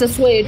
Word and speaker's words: assuage: I don't know how to pronounce that fucking word. Somewhere. It's assuage.